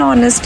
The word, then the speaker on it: honest: If you go to the last one, it's an honest error because H is silent here.